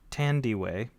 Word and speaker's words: Thandiwe: You don't pronounce the H. It's Tandy.